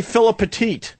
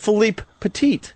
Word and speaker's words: Philippe Petit: Most people say Philip Petit. So I purposely was trying to say his name right. So I said Philippe Petit.